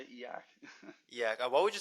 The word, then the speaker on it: e/acc: How do you pronounce it again? EAC? Well, EAC, yeah, I say EAC.